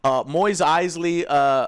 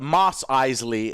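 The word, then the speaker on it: Mos Eisley: episode stuff we forgot Moyes Eisley moss eisely is how it's pronounced I don't know you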